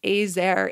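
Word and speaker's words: עזר: Even the term "ezer," I believe that's how you say it. Ezer, actually.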